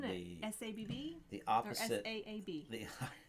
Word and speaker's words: Saab: Or S-A-A-B.